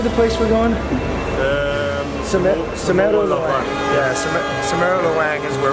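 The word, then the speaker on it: Cemoro Lawang: Semeru Lawang.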